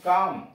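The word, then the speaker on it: calm: अब ये यल पर, यल साइलेंट कहाँ कहाँ, पी ए एल एम, पाम, यल silent है इसमें। हथेली, सी ए एल एम, काम, शांति, एच ए एल F, half, H ए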